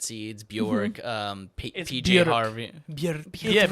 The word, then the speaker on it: Björk: Björk rhymes with jerk.